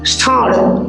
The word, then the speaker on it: ষাঁড়: আমরা উচ্চারণ করছি ষাঁড়, উচ্চারণ করছি ষাঁড়, কিন্তু তালব্য স দিয়ে উচ্চারণ করছি।